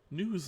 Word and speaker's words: Newes: Yeah, with a tasseled pillow that says news on it. News in NEWS? Uh, NEWES technically. Oh, NEWES. Yeah, the E silent.